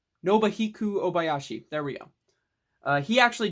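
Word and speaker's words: Nobuhiko Obayashi: for too long house or how do you pronounce his name oh god nobuhiku obayashi nobahiku obayashi there we go he actually died recently like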